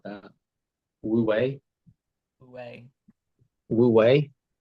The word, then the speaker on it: wu wei: Woo wei, Wei, woo wei. How do you spell it?